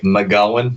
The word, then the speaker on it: McGowan: that was pretty good it's a bit more like mcgowan but uh you said